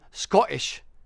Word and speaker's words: Scottish: someone who is Scottish they pronounce Scottish different than Americans pronounce Scottish so if you're saying Scottish if you're you're actually Scottish you're saying the O like ought so you're saying Scottish and you're having a hard guttural stop a hard guttural